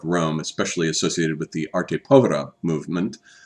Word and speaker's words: arte povera: especially associated with the arte povera movement. Technically, I've been pronouncing it arte povera. Technically, it's arte povera, but I prefer the mispronunciation. It's easier to say.